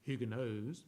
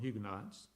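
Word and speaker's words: Huguenots: hugonotes the French hugonotes and if the correct pronunciation would be hugos but we call them hugonotes they were Protestant God-fearing Christians basically in France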